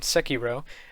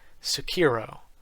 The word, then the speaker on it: Sekiro: the wolf later nicknamed sekiro and i pronounce it that way because i've done a little bit of studying japanese and like i s most people say sakiro sakiro but in you